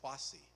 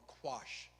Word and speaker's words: Kwasi: So if you're a boy that happens to be born on Sunday, your name is Kwasi or Quash, the anglicized pronunciation of that.